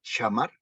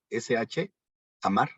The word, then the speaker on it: shamar: Atenderé es la palabra H8104, que se escribe SH, shamar, SH, amar, shamar. ¿Y qué significa?